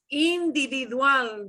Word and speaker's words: individual: individual so you'll notice that when it ends in an l we punch the end of the word okay unless you see